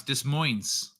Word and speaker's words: Des Moines: get her she dancing forget the S is how you pronounce Des Moines clips that need weapon